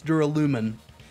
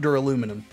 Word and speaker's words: Duralumin: It's Duralumin. Duralumin, not Duraluminum.